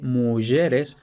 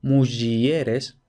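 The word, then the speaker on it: mugeres: mueres e varones aquí tenemos esta pronunciación de mueres ojo No muieres aquí además es interesante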